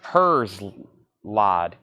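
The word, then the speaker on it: Herzeleid: Ramstein, that is Craig, so this is pronounced Herzlide.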